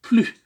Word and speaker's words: plus: bien le mot plus le S qui est à la fin de plus ne se prononce pas il ne faut plus en général lorsque on